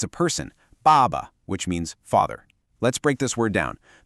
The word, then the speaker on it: 爸爸: The first syllable, ba, is a fourth tone. It's sharp, it's a decisive fall in pitch, almost like a command, ba. Then the second syllable is a neutral tone, so it's light and unstressed.